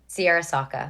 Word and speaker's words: Searra Sawka: Searra Sawka.